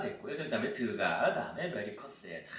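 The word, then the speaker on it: Cassatt: 이렇게 그냥 옮겼는데, 메리 커셋. 이게 정확한 영어 발음식으로는 커셋으로 하는 게 제일 그나마 발음대로 하는 그런 기억 표기법이 된다고 볼 수 있겠습니다.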